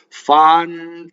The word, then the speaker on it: fantasia: Notice that all of the ahs in Italian just make ah. Ah is a perfectly phonetic vowel in Italian. It never does anything else. In English, Fantasia, the A's make two different sounds. A's make hundreds of different sounds in English, right? In Italian, it only makes one sound.